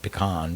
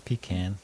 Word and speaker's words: pecan: Oh, I was going to say pecan, but it's pecan.